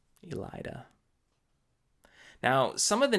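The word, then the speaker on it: Elaida: easier cute Diller Elida I called her Aleida not a big one there Elida now some of the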